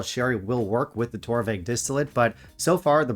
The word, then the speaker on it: Torabhaig: So it comes in at number 6, Torabhaig, correct pronunciation.